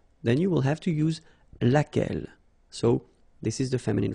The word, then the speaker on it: laquelle: And then the feminine form, so singular, we saw it laquelle, okay? So basically same rule, Q-U, U is not pronounced here. And then you get this E-double-L-E, well, phonetically here, it is the same as what we have here.